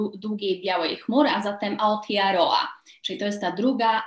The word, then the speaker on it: Aotearoa: Dlatego tutaj Aotearoa, Iwi, Haka słynna. Tutaj samogłoski są wymawiane dokładnie tak jak w naszym polskim alfabecie.